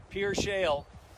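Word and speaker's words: Pierre Shale: Just over the hill, that huge valley is what we call the Pier Shale, or it looks Pierre, but it's pronounced Pier Shale.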